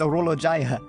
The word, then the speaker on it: Orologia: Oh, that's I've been saying it wrong this whole time. No, it's Oolo Jaya.